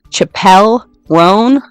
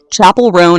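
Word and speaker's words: Chappell Roan: this is a warning I'm about to pronounce Chapelle ran or sorry I did it again Chapel rone is how you say her name her name is Chapel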